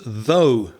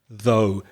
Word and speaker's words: though: Now, what does though mean? Though. Maybe the first thing to mention is the pronunciation.